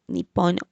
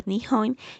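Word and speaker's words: 日本: about japan location japan pronounced in japanese has nippon or nihon is a pacific ocean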